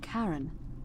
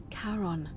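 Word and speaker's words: Charon: it's just as you described it only your pronunciation is a little off the name you heard wasn't Karen it was c h a r o n as in Caron the ferryman of the Dead karon who in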